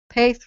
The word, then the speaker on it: Paith: Paith, right? Not it's spelled Peth. It looks like Peth, but it's not Peth.